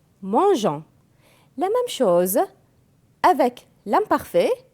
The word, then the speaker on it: mangeons: avec je mange ans si je n'écris pas eu je vais prononcer nous mango et c'est faux donc nous mangeons la même chose avec